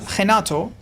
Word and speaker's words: Renato: Can you pronounce Renato? Yeah, the R in Portuguese is like a H.